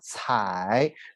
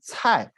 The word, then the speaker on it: 采: No big changes, but in Li and Kai article, this has two pronunciations. One is 采, third tones. Another is 菜, is fourth tones.